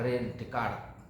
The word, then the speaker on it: René Descartes: René Descartes ya, tulisannya bacanya René Descartes.